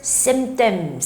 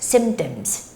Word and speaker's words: symptoms: And when you read this word, again, the P doesn't have like that big sound there. So you don't make a clear P sound, but you just say symptoms, symptoms. Don't say symptoms, symptoms. That's wrong. Symptoms, symptoms.